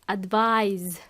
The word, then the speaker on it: advise: Is there a verb for advice? Yes, there is, and it is advise as a verb, aconsejar. Advise, so it's spelled A-D-V-I-S-E.